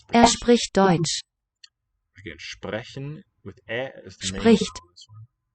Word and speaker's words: sprechen: Wir sprechen Englisch. Sprechen. Note that it's not really an N in these final syllables. They're unstressed and the vowel weakens.